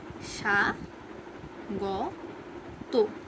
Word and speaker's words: স্বাগত: স্বাগততে দন্তস্বর strong বা তালবস্যর strong উচ্চারণটা হয় না, সেক্ষেত্রে এটা হবে এরকম সা গ তো।